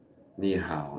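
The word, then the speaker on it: 你好: Ni hao. That's how you say it.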